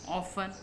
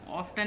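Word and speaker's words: often: ऑफन, ऑफ्टन नहीं कहते, T silent है इसमें।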